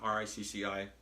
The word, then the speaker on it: Ricci: I encourage you to search out Beached, Ricky Martin, R-I-C-C-I, like Ricci, the Italian pronunciation.